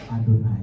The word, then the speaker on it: YHWH: Itu justru yang diajarkan oleh Alkitab, bahwa kalau kita ketemu YHWH, kita bacanya Adonai. Atau kalau dalam bahasa Indonesia kita baca Tuhan.